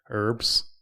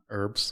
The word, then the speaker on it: herbs: make absence from it why do english people pronounce the h in herbs herbs yeah herbs i don't know they